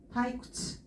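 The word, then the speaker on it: 退屈: 그래서 음독으로 읽어줄 똑같아요. 구츠, 타이쿠츠, 타이쿠츠라고 읽어주시면 돼요.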